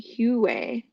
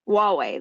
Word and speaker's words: Huawei: also the Chinese company huway hu is that how it's pronounced they tried to technology Huawei there you go they tried to steal